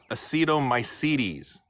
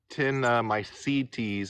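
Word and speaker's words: actinomycetes: the fatherly wise one acetomycedes pronounced uh tin my seed teas according to Google that's so a-c-t-i-n o-m-y-c-e-t-e-s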